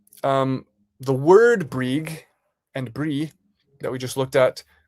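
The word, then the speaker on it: brí: on eil for yourself brie meaning hill br i with the accent on the i.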